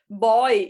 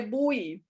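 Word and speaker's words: buoy: pronúncia errada eu falava Eu acho que eu falava boy e é bui é bui é bui e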